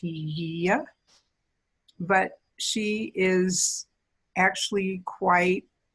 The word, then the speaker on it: Hygeia: In Greek, the name is pronounced Hygeia, but she is actually quite prominent in our own charts.